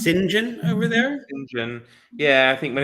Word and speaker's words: St John: like the name St John here isn't it pronounced singen over there singen yeah I think when it's a when it's